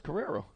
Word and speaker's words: Carrero: Carrero. Hey, that's how it says, Carrero. Spelled it out for me phonetically.